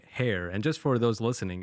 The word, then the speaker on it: Hare: up with the name hair and just for those listening it's spelled like h-a-r-e as if like the rabbit and that's your logo